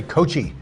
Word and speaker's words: Cocchi: have a bunch of repos that ask to pronounce it they all say Kochi not coaching just go more fun saying Cokie